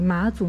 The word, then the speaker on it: 妈祖: So although in Chinese the character is 妈, it has to be pronounced as Ma, so it's called the Ma Zu Miao, which means the